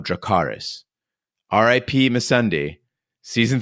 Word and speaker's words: Dracarys: between these deadly adversaries the correct high Valyrian pronunciation of dracarys RI Pema Sunday season